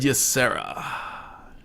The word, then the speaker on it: Ysera: You said Ysera. Is that how you pronounce it?